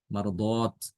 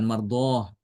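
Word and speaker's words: مَرْضَات: ini ee menunjukkan jamak ya marardot Bukan mardoh tapi marardot dat bukan D tapi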